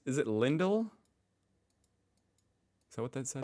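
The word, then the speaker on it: Lindt: it wrong just oh lint why I've always called it lint or lindle that's a t oh that actually sounds more German with the T how do you pronounce it Lind Lind is it a German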